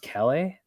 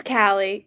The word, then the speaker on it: Callie: Is it pronounced Calais? I think that's how you pronounce it, but let me make It's yeah, it's Callie.